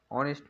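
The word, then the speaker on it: honest: অ্যান অনেস্ট ম্যান, এখানে এইচ এর উচ্চারণ নেই, এখানে এখানে অ এর উচ্চারণ আছে, তার জন্য এখানে কি বসেছে?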